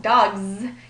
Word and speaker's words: dogs: When you say the word dogs, though, dogs, you'll notice that it's coming out Z because it's following a voiced sound like G.